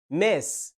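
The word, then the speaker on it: Ms: تاني كلمه بتنطق ماس، الصوت المتحرك اللي فيها شورت اي برضه كسره بسيطه بس منتهيه بصوت الاس. ماس بتستخدمها لما تكون بتكلم آنسة انت عارف ان هي مش متجوزة.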